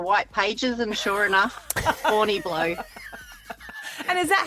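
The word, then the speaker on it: Horniblow: So I looked up the white pages and sure enough, Horny Blow. And is that how they pronounce it? Yeah. Yeah. Like literally H O R N I B L O W. Horny Blow.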